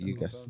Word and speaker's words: Ugas: I saw today Spence and Ugas. Is that how you say it? Ugas.